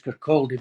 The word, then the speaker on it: Kirkcaldy: Everybody says Kirkcaldy because that's how it's spelled, but it's a silent L. It's Kirkcaldy.